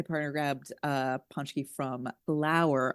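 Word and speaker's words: Phlour: I So my partner grabbed uh paczki from L'Oven on Bryn Mawr um p h l o u r.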